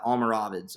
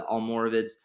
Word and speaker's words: Almoravids: Muslims known as the Almoravids, all right, or the Almoravids, however you want to say it. Both of those are acceptable. I've heard it pronounced both ways, but they actually took them over.